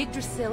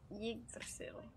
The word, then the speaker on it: Yggdrasil: Yggdrasil. But what I read is it has to be pronounced more like Yag. Yag. Like egg.